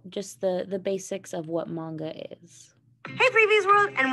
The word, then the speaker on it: manga: It's pronounced manga.